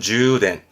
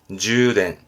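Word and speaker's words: 充電: 충전 발음은 주덴, 주덴.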